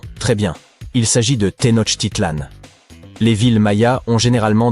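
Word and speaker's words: Tenochtitlan: Il s'agit de Ten Titlan. Les villes Maya ont généralement des noms difficiles à prononcer comme Yaak Shilan.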